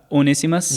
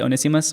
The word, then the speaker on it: Onesimus: Onesimus, I think is how you say it correctly. Onesimus.